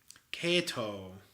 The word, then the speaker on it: Kato: Kato is a correct Japanese pronunciation.